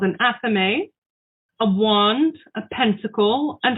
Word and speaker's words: athame: a knife called a ceremonial knife called an athame a wand a pentacle and a chalice but